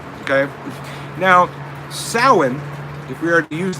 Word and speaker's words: Samhain: It looks like the word Samhain, but it is pronounced like the word you're phonetically spelling there, Sonny.